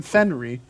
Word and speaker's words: Fenrit: Fenrit. The T is silent.